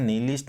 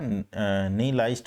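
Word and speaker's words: nihilist: और नहीं लाइस्ट का मीनिंग होता है, इसका प्रोनाउंसिएशन नीलिस्ट नहीं होगा, नहीं लाइस्ट रहेगा।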